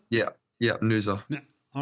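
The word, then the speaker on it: Noosa: favorite vacation spot and I apologize if I mispronounce this is Nua Queensland Australia is that right Nua yeah yeah Nua all right so again I've never been to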